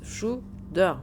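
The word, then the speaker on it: Tsjuder: Il se prononce Shudder.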